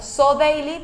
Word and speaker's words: Så Deilig: Bueno, tenemos en las redes sociales, nos pueden encontrar como Sodeily, pero se escribe Sodeily, uh-huh, ¿sí?